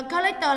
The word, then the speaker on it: collector: Collector là trọng âm mấy nhỉ? Lan? Em theo cô là trọng âm thứ hai. Ok, vậy collector nghĩa là gì? Collector nghĩa là người sưu tập. Nhưng mà nó có nguồn gốc từ động từ nên nó vẫn là trọng âm 2.